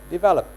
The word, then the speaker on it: develop: I'm putting the highlight in the middle because the middle is where the stress syllable is placed. Develop.